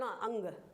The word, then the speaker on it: ङ: क्या बोले का ख तो आज के बाद हम इसे ये नहीं बोलेंगे क ख ग घ ण ना बोलकर क ख ग घ अंग क्या बोलेंगे अंग यानी आ और का के बीच में जिसकी आवाज आ रही है वही है हिंदी